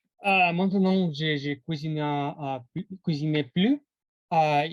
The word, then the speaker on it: plus: alors quand vous mettez quand vous prononcez le S de plus ça veut dire que vous cuisinez davantage vous cuisinez plus par